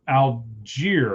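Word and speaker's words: Allgeier: Tyler Algier, I believe is how you say it, correct?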